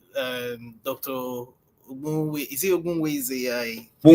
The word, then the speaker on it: Ogbunwezeh: Is it Ogbunwezeh? Ogbunwezeh, yeah. Yeah. I know I did try when it comes to pronouncing.